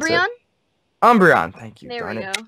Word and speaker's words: Umbreon: a really hard one I think I like umberon if I'm pronouncing that right which one is it she's